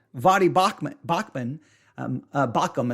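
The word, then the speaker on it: Baucham: bachmann bachmann um uh bakum i think is how you say his name um is um he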